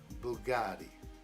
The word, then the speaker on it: Bugatti: It Bugatti.